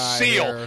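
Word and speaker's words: Seel: crack law partners thomas seal you just like the animal seal well you say it like that but he doesn't have an a it's s s-e-e-l he's well-dressed we still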